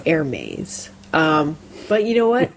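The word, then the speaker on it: Hermès: Watch the cartoon movie Hermes right but it's not it's air maze um but you know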